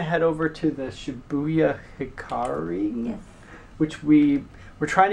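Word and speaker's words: Hikarie: So we are probably going to head over to the Shibuya Hikari.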